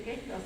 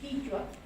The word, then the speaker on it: quichua: cuenta propia, estudió quechua, que no se dice quechua, sino que esto es quichua. La S se la pusieron los conquistadores porque no oían la I y entonces les gustó más quechua, pero es quichua y aprendió quichua y